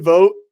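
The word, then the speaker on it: Vogt: at this but Stephen Vote vot or vote I can never say that but it's like the silent G right stepen vote I I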